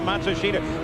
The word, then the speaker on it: Matsushita: Oh, he tells Matsushita what he thinks, or Matsushita, however you pronounce his name now. Yeah, they change it about every 6 months. They say the pronunciation is now Matsushita.